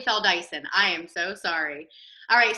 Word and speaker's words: Feldeisen: in on my laptop it's spelled Dyson Dyson uh I thought I had it all right fell Dyson I am so sorry